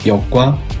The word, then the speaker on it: 逆: 쓰를 역은 어떻게 만들어졌을까? 이 글자의 발음은 역, 뜻은 거스르다, 반대하다, 부수는 갈차, 총 10획입니다.